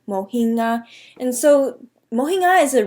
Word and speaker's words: mohinga: To properly pronounce it in Burmese, you would say mohinga, mohinga. So you wouldn't pronounce the G at all. The G is silent, mohinga.